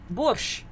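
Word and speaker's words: борщ: Because we say it in Russian, borscht. There's no T there.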